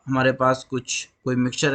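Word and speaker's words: χ: को रिप्रेजेंट करते हैं काई से। ये काई होता है, इसको जनरली टीचर्स एक्स बोलते हैं नॉर्मल, बट इसको सही प्रोनाउंसिएशन जो है वो काई होता है, ये काई होता है।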